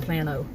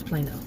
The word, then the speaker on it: Plano: It's spelled like Plano, but it's Plano.